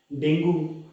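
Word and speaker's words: dengue: Simple है, malaria, डेंगू, कोविड-19, common cold, malaria. अच्छा, डेंगू को इंग्लिश में जब प्रोनाउंस करते हैं तो उसे बोलते हैं डेंगी. In Hindi we call it डेंगू, बट in English we call it डेंगी.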